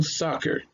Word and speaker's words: soccer: The first word has the apostrophe on the first syllable, so it's going to sound like saw. And then the sound of the schwa, her. So soccer, soccer, soccer.